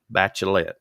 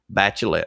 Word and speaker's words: Bachelet: want to talk about someone named michelle bachelet bachelet i pronounced that wrong bachelet michelle bachelet in 2000 she became health minister